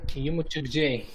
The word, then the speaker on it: yumuşak g: It's silent. Yeah. Okay, but I will teach you a trick, and it works all the time, and it's really easy to pronounce this letter. When you see this letter, it's usually before a vowel sound. So what you do is basically make the vowel sound longer.